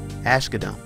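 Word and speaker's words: Asghedom: independence so with that let's begin fermius Joseph Ashe Kadam and if you don't believe I pronounced it correctly go ask his mama err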